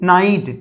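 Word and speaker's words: knight: और यहां पे नोट, नोट मीन्स गांठ, के एन आई जी एस टी, नाइट, इसको नाइट पढ़ेंगे क्योंकि के बाद एन है तो के साइलेंट, और इसको नाइट पढ़ेंगे।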